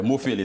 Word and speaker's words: Mofele: Est-ce que je prononce bien? Oui, Mofele, c'est en créole.